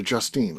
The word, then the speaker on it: Justine: apparently it happens to Justine a quite a bit. People look at her and be like, "Justin." That That E at the end says it all.